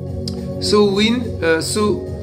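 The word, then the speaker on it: Samhain: Voilà prononcer Soin Soin ou Sain est une fête celtique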